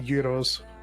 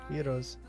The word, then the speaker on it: gyros: A gyro girly or a Euro girly? Hero. They're gyros. Gyros. Heroes. I like saying gyro because it makes people mad.